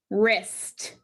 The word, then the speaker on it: wrist: The W is silent. It's the ghost letter. We don't pronounce it, so we cross it out.